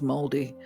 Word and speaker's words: Māori: I'm never comfortable saying it, but I believe the pronunciation is Māori, right? That they're Māori, although it's spelled Maori.